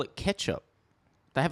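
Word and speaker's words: kecap: right yeah yeah yeah it's spelled k e c a p um like the the C and that's like a CH sound ah yeah yeah [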